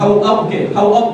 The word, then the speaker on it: حواب: ہو جانا جس پہ حباب کے, یا اس کا تلفظ حواب کے کتے جس پہ بھونکے.